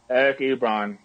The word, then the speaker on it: Eric Ebron: And the one guy that really, really stood out today, and we all know who he is, Eric Ebron.